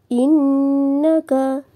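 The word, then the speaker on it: إِنَّكَ: in Inal mursalin inaka innaka innaka ada Nun tahdid dihukumi dengan bacaan tajibul Huna cara membacanya kita dengungkan serta ditahan tiga harakat inaka inaka ini ada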